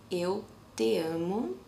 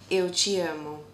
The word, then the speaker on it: eu te amo: The correct pronunciation is eu te amo, but as you say it, depending on the place of the country that you are, the TE gets another sound. So for my mid-east pronunciation is eu te amo. It has a chi sound to it.